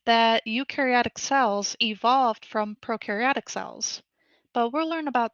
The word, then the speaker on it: prokaryotic: Proaryotic cells on the other hand, pro rhymes with no because proaryotic cells do not have a nucleus and they do not have organels.